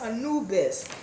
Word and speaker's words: Anubis: i'm pronouncing it right is it Anubis or an abyss Anubis now Anubis um he was a